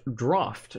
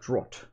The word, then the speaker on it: draught: be that guy but draught is pronounced draught not draught I had no idea